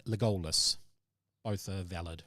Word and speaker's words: Legolas: Legolas or Legolas? Legolas. It's Lego, Lego, LAS, Legolas.